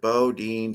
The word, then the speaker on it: Boudin: The first food I want to mention was a signature Bodine sourdough bread, which has been a staple in San Francisco for many, many years. In case you do not know, Bodine is spelled Boudin.